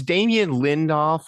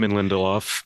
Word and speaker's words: Damon Lindelof: It's Damien Lindelof, or however you say his name. Damon Lindelof. Damien Lindelof, yeah, who had his hand in Lost.